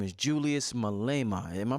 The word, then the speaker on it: Malema: revolutionary brother talking home his name is Julius Malema am i pronouncing his name right yes right right I heard Malema yeah and I heard him speaking I said